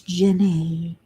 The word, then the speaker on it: Jenny: by Jim a what everybody pronounces gene it's not it's gen a looks like Jean je ne but it's Jenny and she's such a